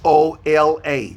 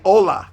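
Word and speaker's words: hola: Spanish h a h o l a very good very good h o l a Ola say olaa yeah so H is a silent you don't pronounce the h my last name is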